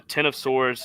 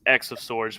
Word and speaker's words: X of Swords: it looking nice so this is uh the Ten of Swords it's X of Swords but it's pronounced ten of Swords creation number one um